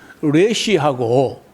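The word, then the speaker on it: ריש: 게 달렛 한 거하고 레시하고 요게 뒷꼭지가 티 나오면 달렛이야. 뒷꼭지가 라운딩하게 돌아가면요 이게 레시인데 이건 영어 발음의 음가가 R 같아. R 레시 하는 이거는 전혀 달렛이거든요.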